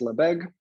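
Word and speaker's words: Lebesgue: me pronounce the name of the company it's pronounced la beg i know a lot of people have trouble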